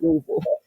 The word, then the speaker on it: Louisville: If you're from Louisville, you got to say it like that, Louisville.